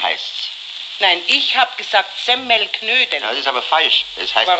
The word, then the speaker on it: Semmelknödel: selten nein gleich okay richtig muss es eigentlich heißen semmelknödel die semmel muss man dabei betonen weil durch die kinder